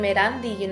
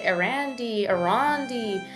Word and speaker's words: Erandi: And so for a long time, my name Erandi, it's not a common name here, not something that's normalized. And so I remember, like, for years, people would mispronounce my name. They would pronounce it Arandi.